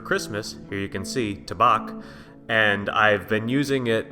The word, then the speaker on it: Tabac: native German speaker that they do pronounce the second a with a a sound